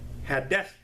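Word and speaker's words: Hadassah: after the Babylonian captivity her Hebrew name was had death h a d d a s s a h and I spell it out for those of you who want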